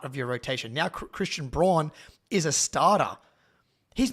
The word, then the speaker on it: Braun: Your name is Braun, dude. Like, what do you do? It is not pronounced Brown, okay?